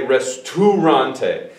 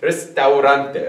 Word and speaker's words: restaurante: Because all of my students, for some reason, want to say restaurante. But it's restaurante, restaurante, okay?